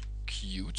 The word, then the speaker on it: Qt: Hallo, ik ga je laten zien hoe je met Qt Creator, zo heet het, zo schrijf je het, Qt Creator, Qt spreek je het uit, hoe je daar een simpele graphical user interface programma mee maakt.